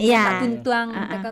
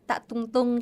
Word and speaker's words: Tak Tuntuang: Oke, dengan pelafalan Minang mungkin gitu ya, Tak Tuntuang. Kalau mungkin bahasa Indonesia tak tungtung, tak tungtung gitu ya. Kalau bahasa Minangnya kan kita tak tuntuang gitu ya, Bal.